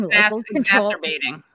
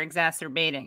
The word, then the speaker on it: exacerbating: ethnic tensions by allowing masturbating is that the word how do you pronounce it exactly wrong yeah they're separated by how they're exacerbating yeah yeah exacerbating yeah